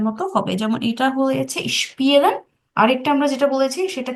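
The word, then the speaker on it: spielen: সেটা কি, এস এর পরে সবসময় ক্যাপিটাল, যদি কোনো এস দিয়ে কোনো শব্দ শুরু হয়, এরপর যদি ক্যাপিটাল টা যদি আলফাবেটটা যদি কনসোনেন্ট হয়, তখন এস এর উচ্চারণটা তালিকা শ এর মতো হবে।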